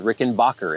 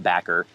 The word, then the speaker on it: Rickenbacker: always thought that was Rick and Bacher until I was in my 20s as well and I still say Rick and Bacher sometimes I know now that it's supposed to be pronounced backer but I'm not going